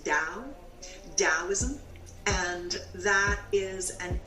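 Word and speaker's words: Tao: it's t a o t looks like ta yeah but it's pronounced da Daoism and that is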